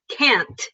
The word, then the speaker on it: can't: So it's can't. You can exaggerate the T. Once you learn how to, once you've spent a lot of time hearing English and communicating in English, you will hear the difference when we say can't and can. There is a T there. It's just very subtle. But for now, I would say emphasize the T because it is there.